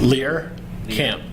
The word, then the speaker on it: Lehrkamp: Lehrkamp.